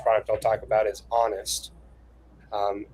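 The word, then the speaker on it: Onust: Um one of our products, and uh that's the first product I'll talk about, is Honest. Um it's pronounced like I'm going to be honest with you, but it's spelled o n u s t.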